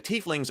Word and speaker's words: tiefling: that thematically so the tieflings are either born in the lower planes or have one or more fiendish ancestors who originated there a tiefling pronounced tiefling is linked by Blood